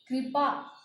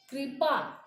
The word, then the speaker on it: कृपा: जैसे कृपा, कृपा आप बोल रहे हो कृपा, इसमें री मिला हुआ है। वृक्ष, मृग, तृण। अब देखिए आप कृपा, अगर आप बोलते हैं कृपा, तो ये हमारा गलत हो जाएगा।